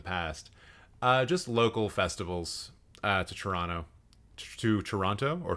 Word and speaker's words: Toronto: Just local festivals to Toronto, or Tirana, depending on how you want to pronounce it.